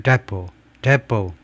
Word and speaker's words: depot: 석유 저장 시설들을 겨냥하는 공격 후에 including the Sharon oil depot. T 발음은 안 하고요.